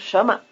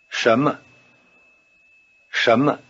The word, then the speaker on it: 什么: In normal speech, the tone pattern of shama sounds rather like a rising tone over both syllables. Try imitating it. 什么？什么？